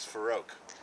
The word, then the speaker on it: Farrokh: My name is Farouk. Farouk? I'll spell it for you.